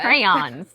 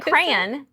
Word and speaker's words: crayon: Crayons. It's a crayon. It's not a cran. No. It's a crayon. It's not a cranberry. But I don't say I don't say cran. I make it two syllables.